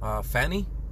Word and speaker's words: Fani: you know guys and the update on typhoon fanny believe that's how you pronounce it it's lamp india a few hours